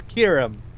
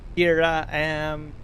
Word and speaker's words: Kiram: My name is Kiram. Kiram Gaming. It's a pleasure to meet you. That's how you say it. Some people say it's Kiram, Kira-am, Kira, K-am. All sorts of people call me different names. Kiram is how you pronunciate it.